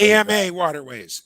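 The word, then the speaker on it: AmaWaterways: AMA Waterways. AMA AMA Waterways. Waterways. We spell it out. AMA Yeah, Waterways. we Armour spell it. Waterways. You say Emma. Yeah, I'm trying to get in the habit of doing it your way since you're over there.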